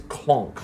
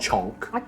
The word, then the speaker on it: Clonk: His name's Clonk, not Chonk.